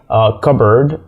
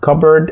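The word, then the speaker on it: cupboard: بنشيله حرف البي بنشيله فكلمات زي كبرد كبرد هنا مش بننطق حرف البي و كانه مش موجود حتى يعني انت لو حاولت تنطقه هيكون الموضوع صعب انك تقعد كوبر مش جايه هي كبرد كبرد كمان في بعض الكلمات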